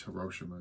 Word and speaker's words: Hiroshima: that talks about Hiroshima, depending on how you want to say that. I guess it's Hiroshima is actually the more correct pronunciation.